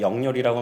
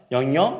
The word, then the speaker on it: 영열: 왜냐하면 이 영렬이라는 발음을요 현지인들은 잘 못했었습니다. 그래서 제가 영렬이라고 말하면 영여 막 이러면서 굉장히 이상하게 발음하고 또 자기들끼리 키득키득 웃으면서